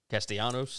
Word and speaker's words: Castellanos: Castellanos, is that how you say it?